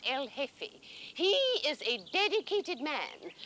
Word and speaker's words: El Jefe: Generalissimo Franco is called El Jefe, the chief. J-E-F-E, the J is silent, El Jefe.